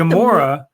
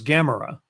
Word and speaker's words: Gamora: No, it's I like Gamora, but But her name, when I saw her name the first time, I thought it was Gamera, which is the name